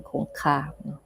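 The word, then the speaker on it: คงคา: This is like the Thai pronunciation, Kongka.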